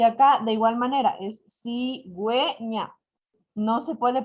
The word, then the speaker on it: cigüeña: Y acá, de igual manera, es cigüeña. No se puede pronunciar cigüeña, porque ya con la diéresis, es decir, con los dos puntitos, se están uniendo las dos vocales que tenemos.